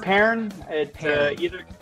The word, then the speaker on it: Pearn: name burn Works burn Peron Peron like it's like the fruit you know care where